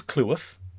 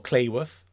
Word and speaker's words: Cleworth: And it is Cleworth, not Cleworth or Clayworth.